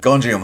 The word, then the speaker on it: Gonjiam: Oh, I keep saying that name wrong. Gonjiam, Haunted Asylum. I think I keep wanting to say Gojira, which is wrong. But Gonjiam, Haunted Asylum, 2018.